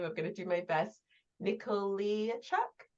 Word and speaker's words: Nikoleychuk: gonna do my best, Nikoleychuk. Nikoleychuk, pretty close, you just kind of have to Nit when you start.